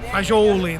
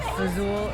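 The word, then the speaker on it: fagioli: I was looking up how to pronounce that. Fajoli, that's why we Well, say that's Fazul how- in dialect. Yeah, fazool is kind of the U.S.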